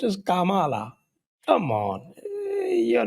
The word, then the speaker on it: Kamala: नहीं, it is pronounced as Kamala.